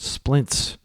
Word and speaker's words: splints: That's a That's a the word in English that involves three consonant sounds at the beginning and three consonant sounds at the end in a single vowel in a single syllable word, splints.